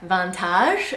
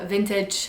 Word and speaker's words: vintage: is not set in the french way like vantage that's how it would be said if it had the proper french pronunciations so they will say je se trobe vintage i love this vintage dress however when it